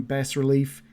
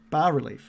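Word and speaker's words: bas-relief: with a rising sun bass relief tall arching windows set with panels of stained glass decorate the walls bathrooms bas bars yeah it's pronounced bar bar relief okay tall arching windows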